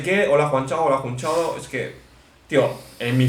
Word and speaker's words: Jun Chao: Me llamo Jun Chao, Jun Chao. De hecho, me acuerdo que de pequeño intentaba que la gente pronunciase bien Jun Chao.